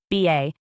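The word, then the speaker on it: 八: 8, the prosperity number whose pronunciation, BA, echoes FA, wealth, surfaces in issue dates, serials coveted by collectors, and design decisions in bank branches and ATMs.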